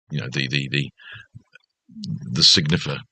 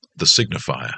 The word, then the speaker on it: signifer: The signifer. Signifer. I want to add an extra syllable. The signifier. No, that's not him.